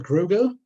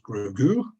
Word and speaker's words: Gruagach: Now the Gruagach, sometimes pronounced Gruagú, Gruagach, or Griga, comes from the Irish Gruagach, meaning hairy or ugly.